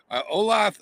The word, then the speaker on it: Olathe: Olathe, oh, is that how you pronounce that?